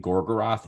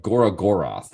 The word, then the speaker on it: Gorgoroth: got me was gorgroth they kept saying gorgoroth incorrectly it's like Gora goroth or something like that I just said there's